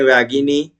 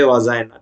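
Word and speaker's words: vagina: Then अभी आपने सुना होगा कहीं वैगिनी, वैगिना, और कहीं पे वजाइना। ठीक है, दो अलग अलग प्रोनाउंसिएशन आप सुनते हैं।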